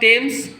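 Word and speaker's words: Thames: फिर है द टेम्स। क्या है? द टेम्स, है ना। टेम्स की स्पेलिंग देखो, THEAMES है, H साइलेंट रहता है।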